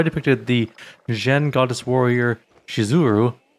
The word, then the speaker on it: Shizuru: And why did none of them warn me that the name of the goddess is actually spelled and pronounced Shizuru?